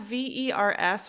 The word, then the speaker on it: verre: So there's it's all pronounced the same way. So there's vers, VERS, which is towards. There's vers, VERRE, that's a glass. There's vers, VERT, that is the color green. There's vers, VER, that is a worm.